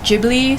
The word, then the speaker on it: Ghibli: Anyway, so apparently it's pronounced Ghibli, so I mean, it's kind of weird, but it's like GIF and GIF all over again. But if Hayao Miyazaki says it's Ghibli, then I'll say Ghibli.